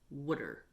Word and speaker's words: water: Philadelphians peoples have, and they pronounce the word water like wooder.